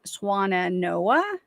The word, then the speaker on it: Swannanoa: because she loved swans so I'm thinking it's swana Noah but I could be wrong so that's how I was pronouncing it Noah you are correct help us